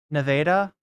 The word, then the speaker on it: Nevada: People from Nevada pronounce the first A as a flat A, like land, Nevada, Nevada.